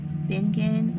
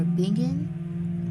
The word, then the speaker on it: Bingen: Abbess is spelled ABBESS. Hildegard or Hildegard, HILDEGARD. And Bingen or Bingen is BINGEN.